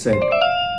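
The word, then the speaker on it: said: ডি এই শব্দটাকে আমরা সেইড বলি কিন্তু এই শব্দের উচ্চারণ হচ্ছে সেড ডব্লিউ ও এন এই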